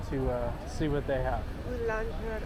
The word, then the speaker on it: boulangerie: Boulangerie. How do you pronounce it? Boulangerie.